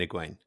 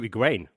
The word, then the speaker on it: Egwene: Oh, you've switched to Egwene. Well, I'm trying to phase in all the, proper pronunciations. I will definitely slip back into Egwene within the first couple of minutes of her actually entering the scene again. So you're going Egwene? I'm going to try.